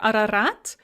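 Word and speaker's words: Арарат: to deal with and they are both pronounced as ah when they are the first letter in a word and they are not under stress so for example in the names arenburg or ararat both the or and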